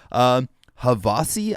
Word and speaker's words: Havasi: HAVASI, I believe, is how you pronounce the name of this group, and this is called Prelude, Age of Heroes.